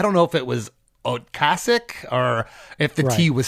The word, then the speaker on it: Ocasek: confusion into a virtue it's actually Rick oasic yes um I've never heard anybody pronounce it uh okasik but uh yeah if you want to go with okasik we can I'm going to go with okasik because that's all I've ever heard it okay Rick is of